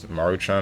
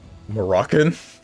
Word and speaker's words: Maruchan: I remember for the longest time, I always used to pronounce Maruchan as Moroccan.